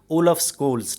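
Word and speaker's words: Olaf Scholz: तो उनका नाम है ओलफ स्कोल्स। ठीक है, ओलफ स्कोल्स जो है, ये इसकी मैं स्पेलिंग बताता हूँ, OLAF और आगे SCHOLZ।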